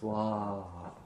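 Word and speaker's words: स्वाहा: Om Durga Durga Rakshini Swaha. So Durga is said twice. Om Durga Durga Rakshini Swaha. Notice that Swaha, they're long A's. Swaha.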